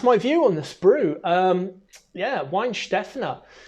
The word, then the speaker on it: Weihenstephaner: Weihenstephaner. It's pronounced Weihenstephaner.